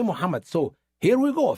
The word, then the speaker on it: Muhammad: And then he could not pronounce the word Muhammad. He said muddam. He could not say Muhammad.